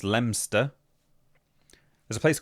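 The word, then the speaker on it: Leominster: Leo Minster is pronounced Lemster.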